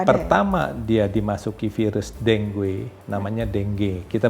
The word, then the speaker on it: dengue: Pertama dia dimasuki virus dengue, namanya dengue. Kita bacanya dengue, tulisnya dengue. Dengue sebetulnya. Itu bahasa Afrika itu. Sebentar. Dengue. Spellingnya gimana, dengue. Dok? Dengue. Nah, tapi dibacanya dengue. Dengue. U-nya tidak terbaca.